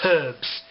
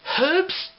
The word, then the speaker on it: herbs: piss out of me it's herbs there's an h in it and then they always